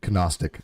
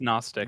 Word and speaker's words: Gnostic: I love the way you say Gnostic, by the way. I really do. It's pronounced Gnostic. Yeah, I just my bad. No, stop! Don't stop! I love that Gnostic. I love that. Keep doing that. It's good actually, but it is Gnostic.